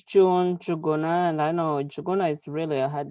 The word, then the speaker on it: Juguna: Hey everybody, my name is June Juguna, and I know Juguna is really a hard name to pronounce, but it's the N is silent.